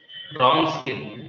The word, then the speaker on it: Wronskian: Okay, how do you pronounce this? Wronskian, W silent, Wronskian.